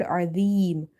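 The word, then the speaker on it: عَظِيمٌ: And in the word azim, ain again from the middle of the throat. Dha is from the tip of the tongue when it touches the inner edges of your top to front teeth.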